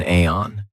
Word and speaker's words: iron: Um, be careful of the pronunciation. I did an entire video on this. This is an aon.